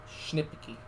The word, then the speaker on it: Schnipke: And I have been corrected in the comments for how to pronounce Brady's last name, Schnipke. Schnipke. Okay.